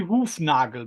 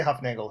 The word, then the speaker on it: Hufnagel: you pronounce it because in German it would be hoffnagle but I'm very sure Americans don't pronounce it that way right H they say Huff Nagle here but yeah every